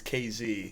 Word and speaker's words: Casey: So it's spelled Casey, but to the locals it's KZ.